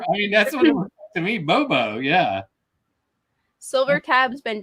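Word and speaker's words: Bobeau: knew it oh yeah it says the pronounced name on the back oh bobo here you pronounce that can you see it uh well the second word is also bo b-e-a-u like the name so bobo bobo just spelled both differently that's funny clever i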